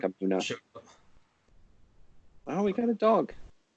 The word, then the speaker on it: Amunet: Yeah, people say Amunet, but the U vowel is actually coming from the Coptic pronunciation of Amun. So it's that name Amunet is a blend of both pronunciation systems, creating just even worse nonsense than either one of them alone. Her name would probably be something like Amuna.